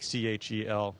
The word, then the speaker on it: Kjell: and Burke absolutely my my first name is chell it's Swedish so it's spelled a little differently but she'll like cheal and then last name